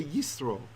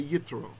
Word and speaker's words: Yitro: inside right when there's no doubt we'd say yistro yistro and if there were not we'd say yitro right so it's a t with a DOT